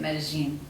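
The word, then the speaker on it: Medellín: Say it like you're from there. That's how the locals say it, Medellin.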